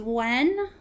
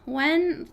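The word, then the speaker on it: Nguyen: I'm not sure how to speak Vietnamese, but I think how you pronounce the last name is Wen. Wen.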